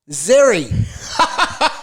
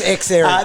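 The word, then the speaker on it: Xerri: lost today x erie guess how i heard him pronounce today zerry we've probably called him that along the journey anyway we would have everyone knows it's x error then we've got luke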